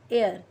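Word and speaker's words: heir: 17 एन एयर। यहाँ पे हम एच है पर यहाँ पे जो एच है वो साइलेंट है, यहाँ पे जो साउंड है वो एयर का ई का साउंड है और ई जो है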